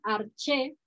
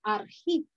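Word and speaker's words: ἀρχή: Le pone aquí arché, porque se escribe de diferentes formas y se dice de diferentes formas, pero en griego, bueno, ahí está escrito como arjí. Entonces dice arché, también arqué, arjé o arjé, del griego arjí, que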